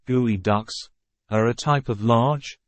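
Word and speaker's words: geoduck: underwater environments geod duct pronounced gooey ducks are a type of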